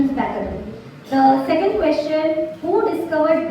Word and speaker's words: Becquerel: Becquerel. Absolutely right. The pronunciation is Becquerel.